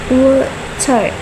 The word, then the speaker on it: water: For example, in the word water, the stress is on wu, so it is pronounced longer, while tar is pronounced shorter.